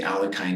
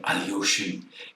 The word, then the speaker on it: Alekhine: And, Kostik gets really excited if you say Alekhine instead of Alyoshin.